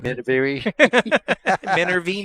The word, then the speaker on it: Minervini: to point out that I'm saying your last name right after all the years of saying it wrong. Minervini. Minervini.